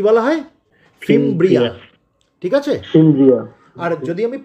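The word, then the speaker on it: fimbriae: ফিমব্রিয়া। ঠিক আছে, আর যদি আমি প্লিউরাল বলি, একের অধিক বলি, অর্থাৎ সবগুলোকে যদি আমি একসাথে বলি, আমি কি বলবো? ফিমব্রি।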